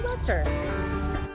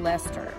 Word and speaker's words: Leicester: And yes, the correct way to pronounce it is Let's go to Leicester.